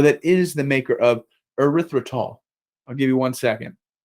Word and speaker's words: erythritol: but I'm going to have a go erythritol erythritol so I'm going to call it erythritol and this zero calorie